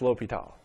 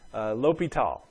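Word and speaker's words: L'Hôpital: gonna talk about here it looks like itll hospitals but usually that's pronounced l'hopital it's a French guy l'hopital l'hopital's rule for limits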